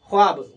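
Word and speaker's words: خواب: ख्वाब। ख्वाब को देखिए ख्वाब को भी हम वाव को हम साइलेंट कर दिए।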